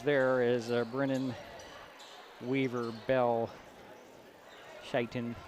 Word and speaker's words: Shaiton: And it will be the starters there is Brennan, Weaver, Bell, Shitton. And we are pretty sure it's Shaiton as Jerry talked with the young man before the game to get the pronunciation.